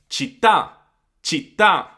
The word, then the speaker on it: città: Città, città.